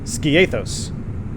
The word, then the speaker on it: Skiathos: out we'll go flaps one sky sky ah--this pronounce ski one word a 'this ski ski a those skiathos skiathos gave us max appreciate the help